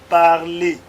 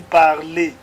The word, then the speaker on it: parlez: Je parle, tu parles, il ou elle parle, nous parlons, vous parlez, il ou elle parle. I did not pronounce the S here. I did not also pronounce the Z and the S.